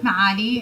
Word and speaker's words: Maali: Maali. In Arabic, Maali, and people that can't pronounce the ayn just say Maali.